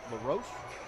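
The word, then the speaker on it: La Roche: tap around the OAC Marietta will be playing LaRoche is how you pronounce yep that's right okay Baldwin Wallace will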